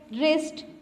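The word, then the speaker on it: wrist: Rake, रिस्ट, sword, इन वर्ड्स में W क्या है? साइलेंट है.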